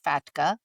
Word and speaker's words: FATCA: Now yes FATKA differently and sometimes very funnily pronounced in many different countries but we are just going to call it FATKA F A TCA stands for the Foreign Account Tax Compliance Act.